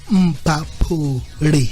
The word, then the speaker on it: Mphafhuli: I can hear you saying Mphafhuli. So how do you pronounce it? Mphafhuli. Oh, Mphafhuli. Yes.